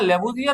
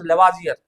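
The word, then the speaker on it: Lavoisier: तो यहां लेबोजियर का नाम है। यहां ओ पे आपको डबल डॉट दिखता होगा और फ्रेंच में इसको आ पढ़ा जाता है। मतलब द नेम वाज लेवाजियर।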